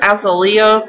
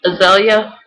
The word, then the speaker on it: Azalea: Some people call her Azalea. That's not right. It's not right at all. It's Azalea. Just like the flower.